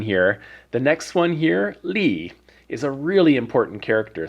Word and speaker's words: 力: and you know here we have the pronunciation Lee it's Neil Akuma so we know it's the fourth tone so Lee and in an arc